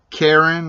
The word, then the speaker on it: Carin: And so we're going to have Carin, I believe that's how you pronounce her name, C-A-R-I-N.